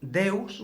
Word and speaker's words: Deus: Los romanos, como pronunciaban la V como una U, Devs, Deus, Deus.